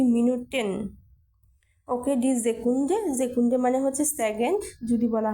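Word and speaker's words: Sekunde: যুক্ত করে দিতে হবে ডি মিনুটেন ওকে ডিজেকুন জেকুন্ডে মানে হচ্ছে সেকেন্ড যদি বলা হয় সেকেন্ড গুলো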